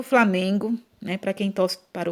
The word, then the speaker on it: Flamengo: Então, se você cantar a musiquinha aí, você vai perceber que a sílaba tônica ou seja, pronunciada com mais força, é o me, né?